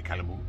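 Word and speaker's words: Calumet: And the I think you don't pronounce the T, the Calamoo.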